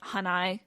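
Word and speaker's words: Hanae: is natski hanai and it's spelled h n AE for us but you'll hear that it sounds like hanai I'll just I'll just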